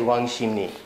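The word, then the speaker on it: 왕십리: korean might be this so it's spelled wang sheep li but you say wang shimni so these blend together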